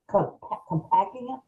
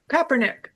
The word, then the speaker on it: Kaepernick: I'm so glad that uh K compact, am I pronouncing his name right, everybody? Pat the football player Kaepernick.